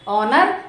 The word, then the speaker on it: honour: So it's honor, it's not honor.